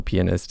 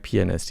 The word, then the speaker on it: pianist: So I'm a professional pianist, and in the world, did I say it right? Pianist, yeah. It's dangerous because I say penis sometimes if you forget to pronounce the A in the middle.